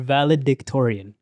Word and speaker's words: valedictorian: It's valedictorian, no? You just won't say dick, alright? It's a valedictorian? Yeah. Yeah. There's a D Whatever.